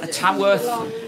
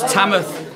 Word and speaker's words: Tamworth: are live from Tamworth Tamworth sorry Chamath I've got a fan I've got to forget that this isn't if you don't pronounce the W in Tamworth it's tamatha and I'm playing from